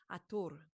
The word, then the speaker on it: Hathor: mm, But the pronunciation of Hathor came through recently as Atur.